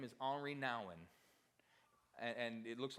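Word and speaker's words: Henri Nouwen: here a while back but his name is Omri now and and it looks like his name is spelled Henry but it's a GN RI all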